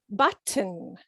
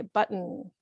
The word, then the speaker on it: button: but we tend to cut the t sound short and then use a fast um sound so for example so